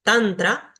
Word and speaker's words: tantra: La primera regla, y muy fácil, es que si una palabra tiene 2 sílabas, el acento va a recaer siempre en la primera sílaba, como en estos ejemplos que están acá. Guru, mantra, tantra, yoga.